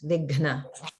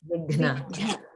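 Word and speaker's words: विघ्न: And in the word Vighna, there's a very challenging pronunciation of the Gha Maha prana because it's combined with Na. So it's definitely harder to pronounce it there and takes a bit of practice. Vighna.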